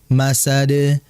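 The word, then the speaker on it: مَسَدٍ: yang terakhir masad tadi seperti bacanya seperti ada tasydid masad ya yang betul adalah langsung dipantulkan karena enggak ada tasydid di dalnya sehingga dibaca Fi masad Kenapa ayat pertama watab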